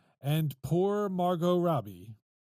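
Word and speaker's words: Margot: all right and poor Margo Robbie there is a t in Margo did I spell it m m a r g o huh that's right Mar go so silent T got it okay she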